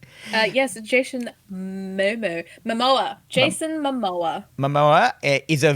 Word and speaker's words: Jason Momoa: Jason Momoa. Yes, Jason Momoa.